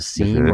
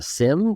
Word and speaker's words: SIEM: We use Microsoft Sentinel, which runs inside of Azure as the SIEM or the SIM, depending on which side of, whether you're northern pronunciation or southern pronunciation.